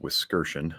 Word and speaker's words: Wiskerchen: For anybody who's curious, the last name is pronounced Wiskerchen.